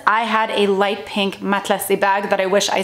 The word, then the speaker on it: matelassé: number two, it's also matelassé, which I feel like a lot of people, because I'm pronouncing it the French way, are gonna be like, matla what?